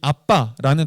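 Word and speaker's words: אבא: 여기서 바울이 얘기한 이 아빠라는 단어는요, 실제 이 아람어인데요. 아람어에서 이 아빠는 발음이 아빠예요. 한국어랑 똑같아요.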